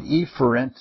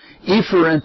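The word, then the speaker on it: efferent: is the proper pronunciation epher has two pronunciations but in both of them the focus should be on the first syllable all right we spent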